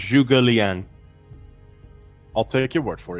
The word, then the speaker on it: Zhuge Liang: It's pronounced Zhuge Liang.